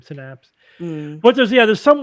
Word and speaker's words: synapse: would read that word I thought it was sinapse syapse it looks like syapse to me yeah I that one I probably heard the soon after reeing it for the first time synapse but there's yeah there's